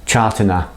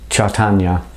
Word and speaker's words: Chaitanya: of the incarnations of Krishna was called uh chartana sorry it's difficult to pronounce chaitanya and he's done his old kind of term